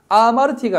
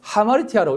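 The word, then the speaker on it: ἁμαρτία: 요게 뭐냐면 하라고 하는 발음으로 읽으라는 것입니다. 아마르티가 아니고 하마르티아라고 읽으라는 것입니다.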